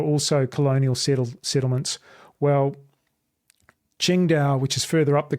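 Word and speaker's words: Qingdao: You may have heard of Ching Dao beer or it's spelled singing Tao here, but it's actually spelled or said Chingda, which is on the coast.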